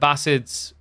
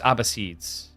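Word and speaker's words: Abbasids: say abass is correctly there is two ways to pronounce that so AIDS is the British way which aligns more with the Middle Eastern way and then trying to remember what the American one I think it's ab seeds I'd have to double check there is like an Americanized way of saying it as well all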